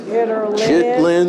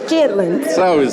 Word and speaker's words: chitterlings: Y'all call it chitterlings. I'm from New York, we didn't eat that. No. Chitlins. No, we right? don't call it chitterlings. Yeah, it's chitlins. That's how it's spelled, and then you make groceries instead of buy them.